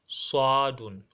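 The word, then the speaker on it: صاد: You must enlarge your mouth over it. If you are to pronounce it, your mouth should be enlarged in terms of pronouncing it. That is, if you are to pronounce it, look at it. You are to say swa, swa, not swa. No, it's wrong. It's swa, swadun, swadun, swadun, swadun.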